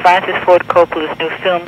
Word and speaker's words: Coppola: Coppola.